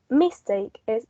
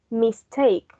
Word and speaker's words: mistake: a two-syllable word and it's not mistake is mistake the stress remains on the root word that in this case is take and the prefix it does not take the primary stress so the words mistake not mistake so it's on the second sea level the last one